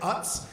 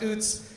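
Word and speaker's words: Utz: I'm sure most of you probably say it Uts. And I was trying to convince him that it was pronounced Oots.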